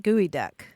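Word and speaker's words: geoduck: a giant clam yeah that's Geo du CK right gooey duck yeah that's right it's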